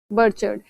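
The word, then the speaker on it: Bergschrund: तो काफी गहरी दरार जो देखने को मिलती है उसे कहा जाता है बरचर्ड। इसमें जो ये जी और एस है ये ऑलमोस्ट साइलेंट है, तो बरचर्ड क्या होती है?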